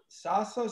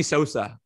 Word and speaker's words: Sosa: i'm saying it wrong so salsa sauce like salsa uh like sammy sosa so sammy salsa